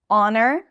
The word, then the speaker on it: honor: Honor, honest, air, herbs, and hours. Yes. So, we have these five words that have an H at the beginning, but we don't pronounce it.